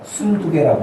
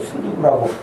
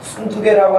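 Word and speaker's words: 순두게: 유오디아와 순두개라고 합니다. 발음을 잘해야지 어떤 사람도 순두구라고 뭐 하는 잘못 읽다 보면은 그렇게 되는데, 순두개라고 하는 이 여집사와 유오디아.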